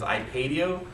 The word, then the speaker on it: iPadio: The one that I want to show real quick was, it's actually, the correct pronunciation is iPadio, but I like the name iPadio, sounds a little bit better for me.